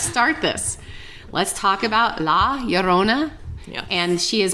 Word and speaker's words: La Llorona: I actually dug into a lot of the pronunciation because I wanted to say it right and I always tend to say Yona I don't know why I do that but it's Laona Laona I can't roll my RS but I'll say